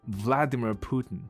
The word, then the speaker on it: Putin: 事实上我觉得不像啦，因为在英文里面它的发音是 Putin。Vladimir Putin，对 Vladimir Putin，所以不是 Putin。